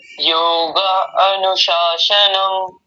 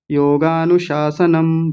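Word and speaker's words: योगानुशासनम्: सबसे पहले पहले सूत्र में आपने बोला अथ योगा अनुशासनम, अनु तो बताया ही नहीं था, बस सीधा बोलना योगानुशासनम बोलिए।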